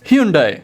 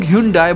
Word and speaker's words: Hyundai: बहुत से लोग Hyundai बोलते हैं, पर कोरिया में उसे Hyundai बोला जाता है।